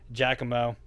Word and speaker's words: Giacomo: The same guy that bought the fender for the Z, Giacomo, that's how you say it. I said it wrong last time, and I'm sorry.